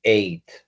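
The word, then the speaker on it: ate: No solamente la escritura, que es, digamos que reorganizar la palabra, sino que cambia muchísimo la pronunciación it y eight. Y ese eight suena como el número ocho también, eight.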